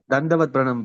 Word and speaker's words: Dandavat Pranam: Dandavat Pranam, Prabhu.